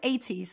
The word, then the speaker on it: Eytys: A couple of other examples are the brand 80s, that's spelled EYTYS.